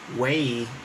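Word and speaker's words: huei: So way, which today we would spell it as H-U-E-I, or a variant of that, or with some other modern, they would say W-E-I, way. They would write it as vei.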